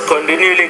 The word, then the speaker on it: continually: For example, after a sound was continually combined. Continually. Pronounce that T with a little more aspiration there.